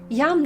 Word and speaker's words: yam: Yam, yum. Yum, not like, oh yum, this is so delicious. No. Yum in Hebrew means sea.